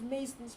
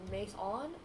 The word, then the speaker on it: Mason: Some people either say, people say either Mace on or Mason. Mason. That's how you're supposed to pronounce it.